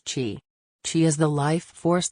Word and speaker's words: chi: is believed to affect the flow of chi pronounced chi chi is the life force that permeates the